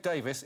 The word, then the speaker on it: Davies: The most glorious thing that sounds a bit like Greg Davies if you mumble it.